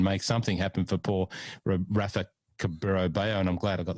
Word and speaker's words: Rafa Cabrera-Bello: to move and make something happen for poor Rafa Cabrera-Bello, and I'm glad I got the pronunciation right.